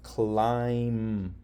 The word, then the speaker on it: climb: When there's an M followed by a B, the B is silent. Do you see why? You see the rule? MB, B is silent. Climb, no B sound.